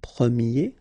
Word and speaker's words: premier: And then the sound will change quite much, because if you think about the masculine form, you pronounce it premier, okay? Premier.